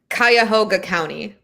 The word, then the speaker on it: Cuyahoga: county jail the name of the county jail cuyahoga county cuyahoga county okay and your name is pronounced azura yes okay all right guys so